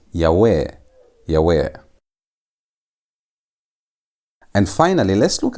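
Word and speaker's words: יהוה: Now, there are some that read this word as Yhovah. But that reading is not supported in biblical Hebrew. The reading that is supported by most scholars is Yahweh.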